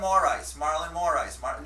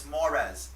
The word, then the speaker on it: Moraes: Marlon Moraes. No, it's Moraes.